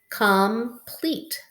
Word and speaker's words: complete: What syllable type is that? Silent E. So this E helps this E say its name. It's a long E. Pleat, pleat, complete, complete.